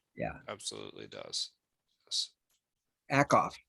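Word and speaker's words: Ackoff: it absolutely does yes akoff dr akov i keep trying to put an extra syllable a mind phenomenon not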